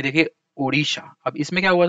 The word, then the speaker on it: ओडिशा: क्योंकि ओडिशा के जो लोग हैं, यहाँ के जो लोग हैं, उनका प्रोनाउंसिएशन जो है वो ड़ ज्यादा आता था।